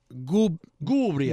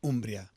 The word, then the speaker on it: Umbria: umbria yeah truffle truffle goombria gubria no no there's in Umbria it's Gio is in Umbria umbria yeah umbria it's a region yeah okay in Gmbria it's Umbria oh here he goes